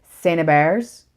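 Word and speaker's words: St-Hubert: they were meaning when they said said Santa bears because it's st. Hubert's I had no idea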